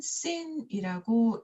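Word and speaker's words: שׂין: 만약에 점이 이 오른쪽에 있다면 얘는 쉰이라고 읽고 점이 왼쪽에 있다면 얘는 씬이라고 읽게 되는 거죠. 그래서 쉰, 씬 또는 씬, 쉰 하고 기억해 주셔야 합니다.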